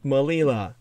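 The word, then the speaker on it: Melilla: are uh this is of course suita and malila suite is spelled c-e-u-t-a malila spelled m-e-l-i-l-a and suita and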